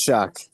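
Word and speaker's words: Shough: It's Shuck.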